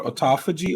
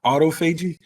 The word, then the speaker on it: autophagy: referencing is called uh it's actually pronounced two different ways it's either called autophagy or autophagy and i hate the